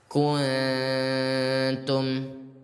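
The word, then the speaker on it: كنتم: Ingat, ikhfa hakiki itu disamarkan ayah bunda ya. disamarkan. Jadi yang paling benar gimana bacanya? Ustaz bacakan kuntum. Nah, sekali lagi. Kuntum. Jadi sangat tipis ya tadi.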